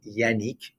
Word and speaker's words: Yannick: My name, Yannick, is actually pronounced Yannick because my father's from Brittany, in the north of France.